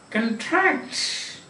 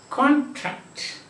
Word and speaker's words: contract: next time we can see contracts and the noun is contract contract listen contract you get into an agreement make your agreements contract contract means that agreements what you have